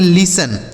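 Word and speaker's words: listen: देखिए यहां टी जो है साइलेंट है। मतलब इसे नहीं पढ़ा जाएगा। ठीक है? इ और एन से हो गया नो। इसे पढ़ेंगे लिसन।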